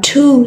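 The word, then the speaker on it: two: 2, so W is a silent letter.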